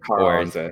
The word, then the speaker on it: Karanza: Kara is at Karanza. Am I pronouncing that right? Karanza, yeah.